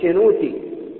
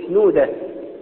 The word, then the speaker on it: شنودة: دير الأنبشنورة دير الأبيض، وهناك بالنطق الصعيدي التاه ينطقوها دال، ما يقولوش شنوتي يقولوا شنودة، ما يقولوش أتريب يقولوا أدريب.